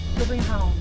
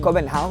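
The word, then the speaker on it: København: In other countries, yeah, but what is it in Danish, Gabi? - Kuh-ben-haun. - Kuhbewhat?! - Ko-ven-han! - Ko-ben-haun.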